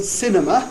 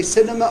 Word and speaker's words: cinema: It's the only word which you can either pronounce with the usual value of a final unstressed A, that is schwa, or you can pronounce it R, right? You can either say cinema or cinema. The second pronunciation is much less common, and I don't recommend it to you, but it's not wrong, right?